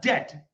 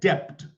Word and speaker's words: debt: t then B whatever in every single dictionary that b is silent don't ever say depth